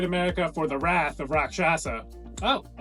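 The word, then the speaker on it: Rakshasa: Six Flags Great America for the wrath of rock shasa oh I said it right you did first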